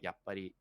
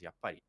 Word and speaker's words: yappari: he was like hm i think you're saying yup buddy wrong because it's a word in japanese and i was saying it yep and it's correctly the correct pronunciation for it is yap uh and i'm like